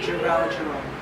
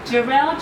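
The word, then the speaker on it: Jharrel: Jerome. No, I know I was saying it wrong. Jarrell Jerome, the actor Jarrell Jerome, was amazing.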